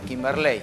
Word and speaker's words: Kimberley: No Kimberley, Kimberley. Sí, Kimberley. Bien. Usted me va a decir... con acento en el ley.